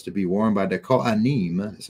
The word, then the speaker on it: Kohanim: So anyway, the priestly garments to be worn by the Kohanim, that's how you say it in Hebrew, priests, while serving in the sanctuary are described.